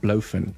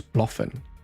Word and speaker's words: BloFin: on how to use uh blow it's not blof fin everyone I I've been informed that is not Blen it's Bluffin it's pronounced Bluffin okay and Blen has a nice